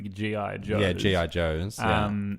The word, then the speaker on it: G.I. Joes: Action Man, the greatest hero of them all, is much like the Guy Joes. I think it's pronounced the G.I. Joes.